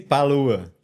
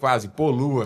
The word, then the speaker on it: Poluha: Tem um H perdido lá no meio do nome.